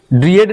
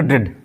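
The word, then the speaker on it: dread: इसी तरह डी आर ई ए डी ड्रिएड नहीं पढ़ेंगे। यहां पे ए क्या होगा? साइलेंट होगा। जल्दी से पढ़ेंगे। ड्रेड।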